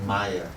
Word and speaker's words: Maya: the word is called Maya for those who don't know much about this room is made up of two syllables ma and yeah ma means not and